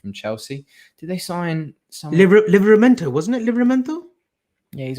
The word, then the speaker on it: Livramento: Livramento, wasn't it? Livramento? Yeah, he's a right back though. How have you pronounced that?